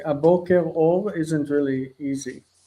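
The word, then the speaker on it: בוקר אור: The response to boker tov is boker or.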